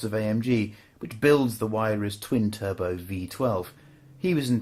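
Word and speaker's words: Huayra: It's called the Waira, not the Waiara or the Waira or the Hiara. It's Waira.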